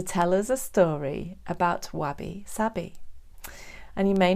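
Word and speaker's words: wabi-sabi: week is to tell us a story about wabby sabby and you may not have heard that phrase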